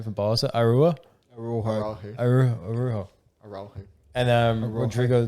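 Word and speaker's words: Araújo: How the fuck do you pronounce that cunt's name from Barca? Arua? Araujo.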